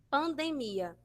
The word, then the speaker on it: pandemia: Pandemia. Em espanhol, nós vamos ter pandemia. Pandemia, certo? Vai ficar lá na sílaba do meio da palavra, percebe?